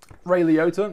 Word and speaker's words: Ray Liotta: also just happens to be the goodfellas star ray leota uh by the way ray liotta if you've ever seen the movie hannibal um